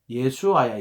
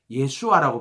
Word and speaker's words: 예수아: 여호수아가 누구냐면 여호수아 이름이 예수아야. 예수아. 그게 예수야. 우리가 말하는 예수. 여호수아 이름이 히랍이 저기이이 저기이 유대인들은 예수아라고 발음하거든.